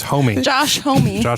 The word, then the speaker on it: Homme: what they're singers named Josh Homme a what it's homey homey Josh my home let's